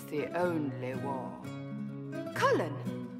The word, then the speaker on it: Cullen: it's the only War Cullen that's cullin the Mage wore a